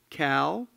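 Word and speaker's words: CAAL: The CAA, finally, would like to invite all of you to attend the Columbia Alumni Arts League, I'm told that's pronounced Cal, a reception in the lobby.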